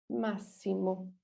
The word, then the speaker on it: máximo: Próximo, auxiliar, máximo. Próximo, auxiliar, máximo. So especially this máximo, be careful, the idea of maximum. I know in English it's x, but here is s.